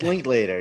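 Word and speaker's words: Linklater: wrencher richard sorry richard link later later is that how do you say it it's linked later you were right i said dick link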